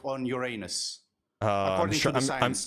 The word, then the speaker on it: Uranus: How do you pronounce it in English? In English, you pronounce it Uranus.